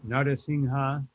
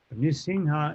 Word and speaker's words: Nrisimha: You can say Narasimha. Nrisimha is more proper in the sense that that's what our acharyas use. But Nara Narasimha or Narahari is also acceptable.